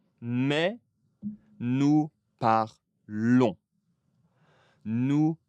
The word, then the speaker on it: parlons: On ne prononce pas le S. Mais nous parlons, nous parlons.